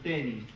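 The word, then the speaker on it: Tönnies: que es un autor que se llama Ferdinand tenis se escribe tonies que es un autor eh que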